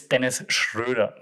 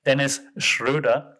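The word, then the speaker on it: Dennis Schröder: then schroeder is dennis it's dennis schroeder just saying that he's a german so that's why i can pronounce his name dennis schroeder and he deleted the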